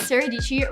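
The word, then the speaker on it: Dietschy: camera that i've used my name is saradici rhymes with peachy and i am a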